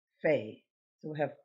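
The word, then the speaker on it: פ: a review pay now this one has two forms uh it has the same shape but without the little dot so this is pay with the dot the one without the dot is fae so we have pay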